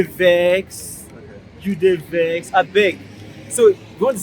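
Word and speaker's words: abeg: I beg. So after pronouncing it so long, it now forms to be I beg. I beg. I beg. A-B-E-G.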